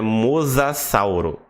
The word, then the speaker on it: mosassauro: e você vai falar o nome desse dinossauro O correto é mosassauro tá é um mess